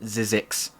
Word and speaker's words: Sizzix: how to pronounce it it's uh pronounced sizzix oh zyzix yeah that makes sense yeah zed said why